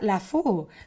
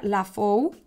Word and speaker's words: LaFou: Hombre, si lo dijéramos en francés, sería La Faux, pero es catalán, de la Terra Alta, y se pronuncia La Faux, y es el vino se llama Els Avellers.